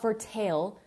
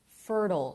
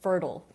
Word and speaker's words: fertile: know oh fertile not for tail fertile it's pronounced like turtle so you guys know the animal turtle turtle rhymes with fertile it's a funny word